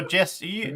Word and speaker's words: Jesse: end uh okay so Jess e how do you pronounce your name the same like Jesse or just I pronounce it Jesse how do you pronounce